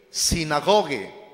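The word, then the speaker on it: συναγωγή: Y este término en latín, a su vez, proviene del griego, que se escribe así, sinagoge. Así se pronuncia.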